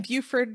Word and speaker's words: Buford: The lake is northeast of Atlanta in Beaufort, Georgia. Oh, Beaufort. And it's spelled like Buford.